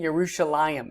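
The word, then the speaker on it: ירושלים: hak up here we have a proper name jeruselam is how you pronounce that there's that little dip thong at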